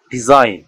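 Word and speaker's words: design: শব্দের শেষে অর্থাৎ কোনো ওয়ার্ডের শেষে আই জি এন থাকলে তার উচ্চারণ আইন হয়, আইন হয়। এক্ষেত্রে জি অনিচ্ছারিত থাকে, অর্থাৎ জি এর উচ্চারণ হয় না। যেমন ডিজাইন, ডিজাইন, ডিজাইন মানে কোনো নকশা বা আঁকা।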